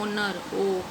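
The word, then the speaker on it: honour: लगा दिया, क्योंकि बेटा ये एच जो है साइलेंट पे हो गया। उसको हम पढ़ेंगे क्या, हम इसकी साउंड को देखते हैं, ओनर ओ आ गया, तो यहाँ पर एन लगा दिया।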